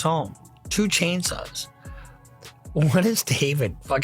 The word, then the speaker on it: D4VD: A fellow by the name of the Forvit, is what I call him. D 4 V D, David, is how you pronounce it.